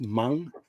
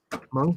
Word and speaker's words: Meng: Andy saying Meng, pronounced Mung. Mong, yep.